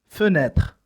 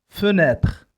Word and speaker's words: fenêtre: هذه الصورة تمثل fenêtre. fenêtre. الكلمة مكونة من 3 مقاطع 3 syllabes.